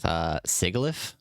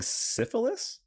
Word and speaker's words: Sigilyph: Are you just mispronouncing syphilis? No, it's Sigilyph, but yeah.